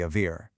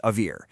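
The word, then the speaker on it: אויר: of the Avir.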